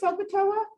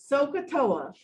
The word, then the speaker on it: SOHCAHTOA: heard of the word sokatoa no no one's ever heard of that word before sokatoa sokatoa soak a toe like you're literally like you're gonna soak your toe in something socatoa let me show you